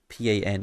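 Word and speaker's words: pain: Pat I've never heard pan in France before in French I mean that's how you say it because a part is bread oh no yeah no part no it's like paw or like pong you're either way so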